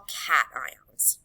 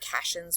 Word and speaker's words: cations: And ions that have a positive charge, we call cations, okay? So that's how it's pronounced. It's not cations, what sometimes students say, cations, okay?